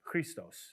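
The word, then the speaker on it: Χριστός: Christos is how you say it in Greek.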